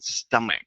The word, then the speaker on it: stomach: Just be careful with the word stomach there, Non. Uh, there's a C sound at the end. Okay, so it's stomach.